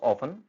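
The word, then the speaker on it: often: पहला है हमारे पास ऑफन। टी साइलेंट रहेगा वेजिटेबल नेक्स्ट है हमारे पास वेडनेसडे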